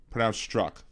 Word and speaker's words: Strzok: Pronounced struck. Thank you, Elizabeth. Pete struck. Like the Z is unnecessary, but that's who knows.